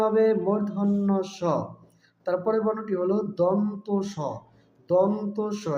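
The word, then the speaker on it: মূর্ধন্য ষ: ব এ বিন্দু র ল তালব্য সঠিক উচ্চারণ হবে তালব্য স তারপরের বর্ণটি হল মূর্ধন্য স এটাকে অনেকে মদিনার স বলে থাকে সঠিক উচ্চারণ হবে মূর্ধন্য স তারপরের বর্ণটি হল দন্তস দন্তস জিবার আকারটা সামনের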